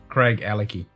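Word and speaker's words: Craigellachie: All right, so I need to get the Craig-Alachi. How do you say it? Craig-Alachi? Craig Alecky. Just think of Craig Craig and Alecky.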